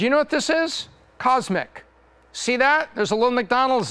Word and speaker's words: CosMc's: know what this is Cosmic see that there's a little McDonald's there and there's a golden arch right there this is the first location of cosmic this is pronounced cosmics focus on drinks a